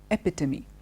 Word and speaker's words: epitome: is not epitome it's not epitome it is pronounced epitome II a PITA me okay it's a it's a lovely word especially